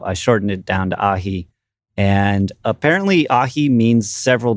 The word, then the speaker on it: Ahee: Like if I type in the word Ahee, it's like Ahee. Right. You know, right. But if I type in the word A-H-H-H-E-E-E-E-E-E, then it sounds more like Ahee, That's you know, correct. like how I pronounce it.